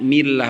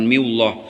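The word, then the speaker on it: الله: Bismillah, lafaz Allah ini kenapa dibaca lafaz Allah ini dibacanya tarkik millah bukan miullah, karena lafaz Allah ini lihat setelah kasroh.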